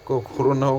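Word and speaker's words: Krona: वो कोरोना हो गया, ऐसे ये क्रोना है, कोरोना नहीं है, क्रोना। Switzerland, so burn is the capital, Swiss franc is the currency, ठीक है ना। तो क्रोना है, किसी का भी गलत प्रोनाउंसिएशन मत करना, क्रोना इज़ द स्वीडिश,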